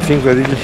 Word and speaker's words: Þingvellir: Ja wiem, że mam pewnie problem mały, w sensie niedokładnie, poprawnie wymawiam tą nazwę, ale Thingvellir jest po pierwsze parkiem narodowym, po drugie tu znajduje się pęknięcie pomiędzy płytami tektonicznymi euroazjatycką i północnoamerykańską.